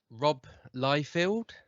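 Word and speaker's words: Rob Liefeld: timers what else we got damon we've got rob lyfield yeah how you yep that's how you pronounce his name yeah robloyfield's prophet is returning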